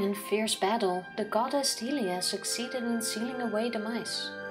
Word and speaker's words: Hylia: Because people pronounce it Hylia when it's Hylia.